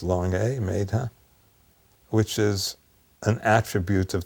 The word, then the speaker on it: Medha: The word mazda is the equivalent you can say the same word as a vadic word uh maidha m d h long a maidha which is an attribute of the god varuna.